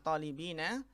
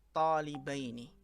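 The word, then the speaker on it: طالبين: Atau kita baca ya di sini karena musanna bukan talibina, tetapi kita baca talibaini. Jadi isim yang dijarkan adalah talibaini. Ya, bukan talibina tapi apa? Talibaini.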